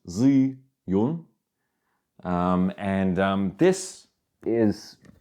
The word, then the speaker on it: Zhiyun: which I got very excited about from um zun actually it's pronounced Z Yun um and um this is incredible this is